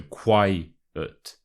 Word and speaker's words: quiet: church mouse so firstly with the word quiet you want to put the stress on the first syllable so Qui it Qui it and secondly the as